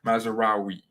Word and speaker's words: Mazraoui: Mazraoui.